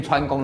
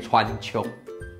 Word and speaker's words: 川芎: 念川宫的都应该列国文老师回去嘞。它念川穹，不是也不是川穹哦，要念川穹啊。